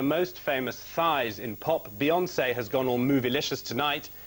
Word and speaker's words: Beyoncé: On Booty Watch in Leicester Square is Colin Patterson, who's been speaking to his, get this it rhymes, fantasy fiancée, Beyoncé. Eh?